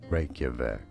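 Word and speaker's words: Reykjavík: pronounce that we are looking at how to pronounce the name of the capital city of Iceland how do you say it Reykjavik Reykjavik condemn takes place in Metro City I can't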